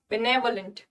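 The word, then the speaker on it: benevolent: Pronunciation देखो, बेनेवोलेंट, pronunciation जब हम बोलते हैं ना तो यहाँ पे ने पे स्ट्रेस देते हैं, बेनेवोलेंट।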